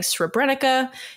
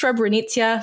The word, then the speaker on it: Srebrenica: wanted to note that I have been pronouncing um the municipality wrong of celebrity I've been saying srabrenica it's actually it's rebrenicia so I will pronounce